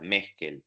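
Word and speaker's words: Meskell: Lynn, que se escribe Lynn, se escribe L-I-Y-N-N y Sí, separado Meskel. ¿Cómo suena? Meskel.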